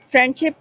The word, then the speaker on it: friendship: Example, friendship often loses the D sound के omission हो जाती है।